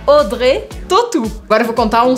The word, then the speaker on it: Audrey Tautou: Então a gente também faz uma matemática das letras aqui, faz várias delas sumirem, virarem outras e a gente não pronuncia Audrey Tautou, a gente fala Audrey Tautou.